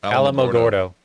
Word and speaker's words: Alamogordo: Alamogordo.